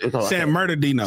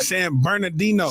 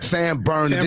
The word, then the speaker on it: San Bernardino: San Madino. Same. I can't say that shit. San LA is different. It's easier to say. San Bernardino. Or you can San Bern. Hold on. Say it right. San Bernardino.